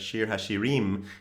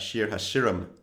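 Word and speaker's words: שיר השירים: just the vowels but which which syllable gets the stress of the word so we say things like shir hashirim and not shir hashiram it also is really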